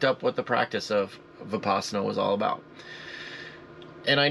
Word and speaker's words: vipassana: of this practice of vinyasana vinpasana I say it wrong all the time um vipassana and so you know